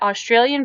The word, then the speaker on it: Australia: One thing I learned from watching Border Security, Australia's Frontline, is that Australian people don't say Australia. They say Australia. Like, instead of pronouncing the AU, they pronounce like, it's like UH, Australia.